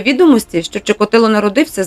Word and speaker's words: Чикатило: По-украински произносится По украинской мове. Чикатило. Чикатило, да, Чикатило.